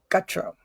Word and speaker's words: Gutro: John Covey and Gutro. Did I say it right? You did. Like guts, Gutro. That's right. Yeah. It's a massacred French name, so Hey, mine too.